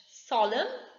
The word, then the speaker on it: solemn: Solemn, N is silent.